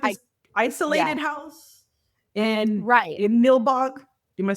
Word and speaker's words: Nilbog: And they go to like this isolated house and in Nilbog. Am I saying it right? Nilbog. Yeah, goblin backwards. Yeah, Nilbog.